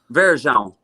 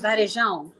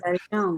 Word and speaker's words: Varejão: Babe, is Varejão. Verejão. Varejão. Yeah, you gotta say it with your nose. Yes, Varejão. You speak Spanish. You have the You gotta say it with your sinuses. Varejão.